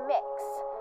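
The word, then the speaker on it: Mx.: It's mix. So kind of like cookie mix or mixing bowl, that sort of thing. That's how it's pronounced.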